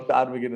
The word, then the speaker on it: ptarmigan: Because the P is silent, so it doesn't have anything. Okay. Ptarmigan as well.